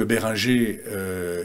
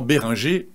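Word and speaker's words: Behringer: moins bons et justement Béringer excusez-moi je le prononce à la française fabrique une gamme de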